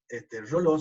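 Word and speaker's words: Reuleaux: este investigador justamente de Roló, Reoleuc, Roló se pronuncia, que dio sus definiciones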